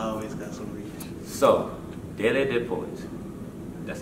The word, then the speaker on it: DeleDaPoet: DeleDaPoet. DeleDaPoet. That's right. DeleDaPoet. DeleDaPoet, y'all. Hey. It's like a song, you know? Okay. You just gotta say it like that every time.